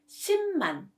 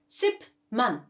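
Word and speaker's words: 십만: with me and consonants so the right pronunciation is shim man not ship man okay second when tigu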